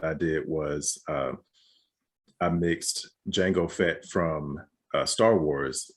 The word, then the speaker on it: Jango: did was i mixed jango fett from uh star wars with uh django unchained because i was like wait they're spelled differently but they're they're pronounced the same the color scheme is